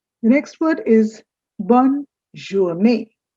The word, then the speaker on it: journée: No, it's not journée. I know looking at the double E's, you would be wanting to say journée, but actually it's journée. As if there were N-A-Y, like day, it's pronounced similarly, journée, and it means good day.